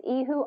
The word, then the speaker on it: Ehud: I think I might have mispronounced his name in the first lesson, but it's Ehud Honesty the Seventh.